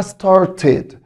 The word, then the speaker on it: started: ولاحظ برضو بعد الكه ساوند الاي دي بتنطق تا walked walked. الكلمه اللي بعدها كلمه start start، والماضي بتاعها started started.